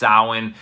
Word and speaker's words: Samhain: Festival of sowin it's spelled Samhain but it's pronounced sowin this is over 2 000 years ago and